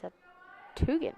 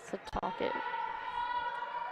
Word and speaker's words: Setauket: She's a freshman from East Septuagint, New York. Is that how you pronounce it? A lot of weird pronunciations today. East Setauket. Setauket.